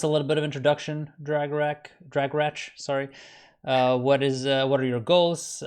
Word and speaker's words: Dragorach: soft CH, so it's Dragorach.